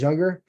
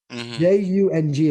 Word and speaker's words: Jung: J U N G is how you pronounce Young. Uh I because I don't think it's Jung.